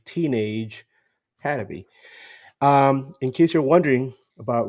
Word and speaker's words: Teenage Hadebe: That's how you pronounce his name, Teenage Had to be.